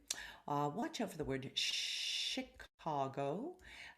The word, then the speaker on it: Chicago: out for the word chicago normally you would have a ch sound with a ch ch quality but not in this case it is pronounced with a sh sound chicago watch out for something